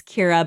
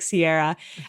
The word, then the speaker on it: Ceara: Because my name I mean my name is spelled C E A R A. It's Kira, but of course it looks like Sierra.